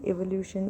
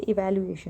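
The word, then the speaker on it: evaluation: थोड़ी प्रोनाउंसिएशन में प्रॉब्लम है, मैं बोलते बोलते थोड़ा एवोल्यूशन इवैल्यूएशन में थोड़ा, ये इवैल्यूएशन है, इवैल्यूएट करना।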